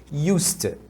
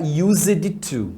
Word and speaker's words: used to: automático então costumava vai vai ser US você pronuncia desse jeito US US não fala used to tá Não é assim que se fala e eu costumava ir